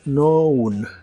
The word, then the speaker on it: known: pasado participio es known la k no se pronuncia de nuevo Así que la pronunciación es noun noun y significa conocido en